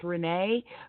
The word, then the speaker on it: René: conversation I wouldn't say actually my name is pronounced Renee but you know you